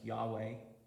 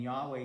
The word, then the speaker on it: Yahweh: their God as, and probably the way that you would pronounce it is something like Yahweh.